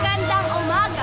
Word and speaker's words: Magandang umaga: Magandang umaga.